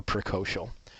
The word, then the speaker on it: precocial: Okay, let's practice these 2 words, and I will pronounce them for you again. Altricial or precocial.